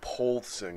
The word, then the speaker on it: Poulsen: clothes exactly my dad it's probably pulsing because it's P o UL Sen pulsing pulsing okay so so